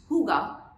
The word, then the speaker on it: hygge: start with norway they practice something called the huga spelled hygge but pronounced hygge the entire philosophy of the scandinavian country is